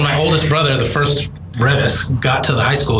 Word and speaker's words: Reavis: But I think they say Reavis High School, and we go by Reavis. So it's a little pronunciation.